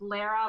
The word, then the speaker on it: Lara: My name is pronounced Lara like Sarah.